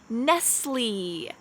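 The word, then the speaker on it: Nestlé: for starbucks i'm gonna go to five bucks nestle nestle next we have the two most popular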